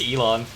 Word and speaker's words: Elon: you know komaeda and ellen musk um what i said it's elon i don't give it she doesn't deserve that like ellen degeneres yeah like i realized yesterday i've been pronouncing it wrong and i just kept